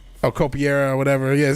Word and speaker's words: Capoeira: Capoeira.